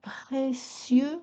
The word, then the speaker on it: précieux: cesse je remue de précieux souvenir. Ici, le mot précieux est prononcé en deux syllabes. Précieux et non pas en trois comme on peut le faire parfois en poésie.